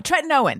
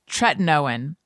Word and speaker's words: tretinoin: to continue using tre i can never say it right tre tretinoin tretinois tretinoin that's what it is i'm getting i was calling it tretinoin for many months no one corrected me it's tretinoin uh it's generic retin-a i've